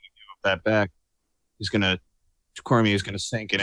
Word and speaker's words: Cormier: Well, that sounds like it was a good fight for Daniel Cormier, who is cementing his reputation as the best pound-for-pound fighter in the UFC. The R is silent, by the way. Cormier. It's French.